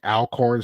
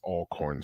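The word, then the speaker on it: Alcorn: over all corn state if you're looking at it saying Al corn State you're pronouncing it wrong it's all corn State all corn yes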